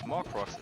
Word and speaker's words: Morcrox: Oh, so we got confirmation from Bowser that Morcrox is pronounced as it is written.